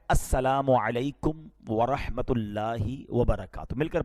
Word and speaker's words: السلام علیکم: ہاں سلام کی تلفظ ہی ٹھیک نہیں ہے. السلام علیکم, السلام علیکم, یہ سلام نہیں ہے, بلکہ بعض اوقات تو اس کے میننگ ہی آؤٹ ہو جاتے ہیں. سلام کیا ہے؟